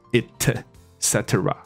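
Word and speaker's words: et cetera: C 以及其他族群的客人，所以 A B C ETC 不可以，你不可以把它念成 ETC，你要把它念成就是我这里写出来的 it cetera，其实念成 it cetera 也可以啊、哦、cetera。那我听过一个错误的版本是把它念成 ik。所以可能大家以为里面是 K 的音 etc，那不是，是 it， OK， etc， it cetera， etc， etc 之类的，这样就 OK 了。好，所以这是我们多补充的一个东西，这样。那但是这个以及其他又有，我们终于要回到我们刚说的这个版本，就如果你不是讲 and others 而讲的是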